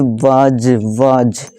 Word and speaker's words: was: WAS, वस नहीं पढ़ते हैं, इसे वाज, वॉच का मतलब होता